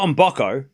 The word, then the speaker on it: Mboko: I've been saying on Boco for I think I heard her say it. I'm like I'm copying what she says cuz that's her it's her name. She would know how to say her name.